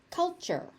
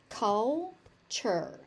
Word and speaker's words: culture: Culture. Culture. So, you see a tu there and for some reason it becomes ch. This is just something that happens. It's just like du becoming j. Tu becomes ch.